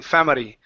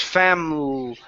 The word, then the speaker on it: family: Right now, you're saying family. Okay. So, it's family.